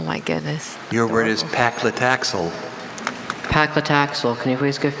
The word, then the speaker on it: paclitaxel: Are there any alternate pronunciations? Just paclitaxel. Paclitaxel.